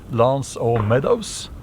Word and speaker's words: L'Anse aux Meadows: and he uh made a settlement in a place uh called uh uh I I believe um Americans or Canadians they pronounce it Lance O Meadows that's on New Foundland